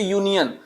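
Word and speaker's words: union: इसी तरह देखिए यूनियन जब आप यूनियन लिखेंगे तो इसमें भी पहला लेटर क्या आ रहा है? या आ रहा है। तो इसके साथ क्या करना है? ए लगाना है। अब आप सोचिए अगर आप इसको यू देख के लगाते तो गलत हो जाता कि नहीं? इसलिए हमको क्या करना चाहिए? पहले इसका प्रोनंसिएशन करना चाहिए।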